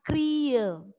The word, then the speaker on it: kriya: Ya, seperti kriya, tulisannya kriya. Ya, tetapi dibacanya kriye.